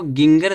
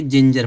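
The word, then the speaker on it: ginger: जैसे देखो यहाँ दिया जिंजर, तो इसको गिंगर नहीं पढ़ेंगे, जिंजर पढ़ेंगे।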